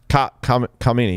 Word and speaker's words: Khamenei: Khamenei, yeah, that's how you say it.